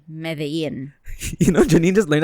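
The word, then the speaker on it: Medellín: Wait, in Colombia, they pronounce it as Medellin. And in Spain, or the Spanish, they say Medellin.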